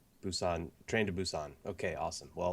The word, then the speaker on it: Busan: Pronounce Train that to for me. Busan. Oh, okay. I thought it was Busan Hang.